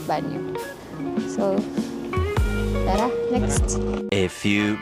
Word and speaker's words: bagno: Kasi sa resibo bag banyo eh bagno ganon pero I think it's pronounce as banyo.